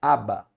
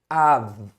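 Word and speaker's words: אב: O pai em hebraico, gente, você pronunciar pai em hebraico não é Abba, é Av, Aleph, e é a letra Bet. Mas a letra Bet, ela pode ter um som de Bet quanto de Vet.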